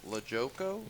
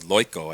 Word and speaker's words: Loiko: Batting sixth is Tim Lojoko. Or actually, Loiko, I believe they pronounce it.